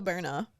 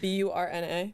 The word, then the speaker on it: Byrna: Yeah, it's called a Berna. Like BURNA? Yeah, like burn.